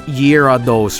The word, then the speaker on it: Gyarados: the Nintendo Direct, but I pronounce this Pokemon as Gyarados, and a lot of other Swedes do. But I know I'm corrected on this, and it's Gyarados, right? But I say Gyarados. I really do, because it's a remnant